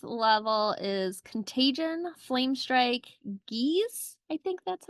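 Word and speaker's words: geas: ruse or a guys guys editor's note it's pronounced Gish um and mass cure wounds six level is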